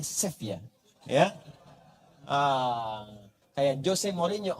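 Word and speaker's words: Sevilla: Ah itu ya Ah bacanya seevia bukan sevila sefia ya bacanya sefia ya Ah kayak Jose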